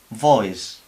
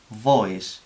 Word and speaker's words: voice: Estamos diciendo prohibir o furgoneta según como pronunciemos. O aquí, por ejemplo, boys, voice, boys con B, voice con la V que hemos dicho, y significan cosas totalmente diferentes, claro.